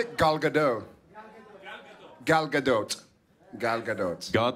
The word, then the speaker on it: Gal Gadot: God the dog. God the dog. How do you say it? Gal Gadot.